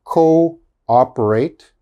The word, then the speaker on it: cooperate: says double o but the double o they are pronounced separate okay they are not pronounced together so this word is co-operate co-ordinate cooperate coordinate okay